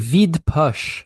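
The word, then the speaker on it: Vide Poche: a French pronunciation, but Vita poce. um by Chef Yanu. Vid Vid Push, which means empty pocket. Vid push. Is that how you'd say it? Yeah, that's how you say it.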